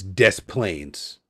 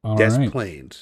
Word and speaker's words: Des Plaines: The name of the town is Des Plaines. And they're very particular about it. Des Plaines. All right. I won't mispronounce it.